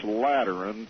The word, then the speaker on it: Lateran: By terms of this Lateran Treaty, did I pronounce that right?